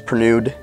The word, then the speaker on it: Pernewd: Shmoxd, mooch, like my last name, which is Pernewd. My last name is Pernew, but it's spelt Pernewd.